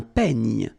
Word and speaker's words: peigne: Then un peigne. Final E, you don't insist on it. It's ny, the last sound.